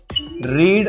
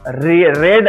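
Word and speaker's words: read: नाही they didn't रीड a book okay they didn't म्हणजे डिड नॉट रेड spelling आहे फक्त रेड नाही म्हणायचं इथे रीड म्हणायचं आहे नेक्स्ट शी वॉश क्लोथ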